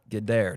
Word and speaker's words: Gaidar: Tetiana Gaidar, did I say your last name right?